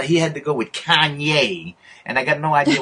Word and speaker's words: Kanye: Kane West, I don't know, how do you pronounce that guy's name? Kanye West.